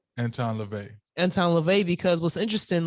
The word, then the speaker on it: Anton LaVey: and time like uh what's his whole name Anton Lavette Anton LaVey Anton LaVey because what's interesting like his church